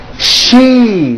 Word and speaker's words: she: It's not sh, it's she with that high E vowel sound, okay?